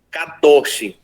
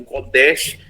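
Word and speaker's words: קדוש: No Antigo Testamento é utilizado a palavra kadosh. Algumas pessoas pronunciam kodesh, mas normalmente se utiliza a pronúncia kadosh para atribuir a palavra santificação.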